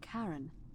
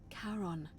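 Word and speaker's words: Charon: it's just as you described it only your pronunciation is a little off the name you heard wasn't Karen it was c h a r o n as in Caron the ferryman of the Dead who in exchange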